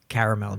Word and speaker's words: Carmel: And I pronounce it Caramel, New York.